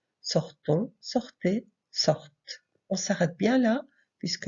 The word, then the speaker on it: sortent: Sortons, sortez, sortent. On s'arrête bien là, puisque le ENT ne se prononce pas.